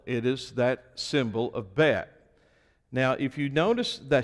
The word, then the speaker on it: Bet: But notice the first letter in your Bible, it is the letter Bet, and some pronounce it Bait.